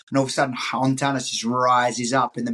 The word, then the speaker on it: Hontanas: Like Hontanas let's is do it. But recommend people stay, right? say again. Hontanas is a place you'd recommend people stay. Absolutely. And that's spelled Absolutely. Hontanas, Hontanas. Ontanas.